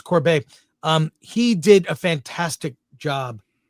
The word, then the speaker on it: Corbet: I don't know how to pronounce his last name. It's Corbet, yeah. It's Corbet.